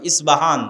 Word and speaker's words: ইসপাহান: আজও ইরানের মধ্যে ইসপাহান নামে সেই নগরী আছে। আমরা প উচ্চারণ করি। ইসপাহান আরবিতে এটা উচ্চারণ হয় না। আরবিতে হয় আল আসবাহানি বা উচ্চারণ হয়। ইসবাহান বাসবাহান।